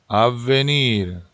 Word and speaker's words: avvenir: avvenir, avvenir. 여기에 에 발음에 액센트가 들어가는데, 여기도 V가 두 개죠. 그래서 avvenir. 좀 세게 발음을 하셔야 V 두 개가 티가 납니다.